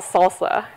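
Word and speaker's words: SLSA: ssf not again is something that we call salsa and that's how we pronounce it it stands for supply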